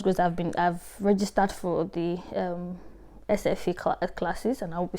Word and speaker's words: SFI: There's what they call Swedish for immigrants, SFE. It's SFI, but I think they pronounce it SFE.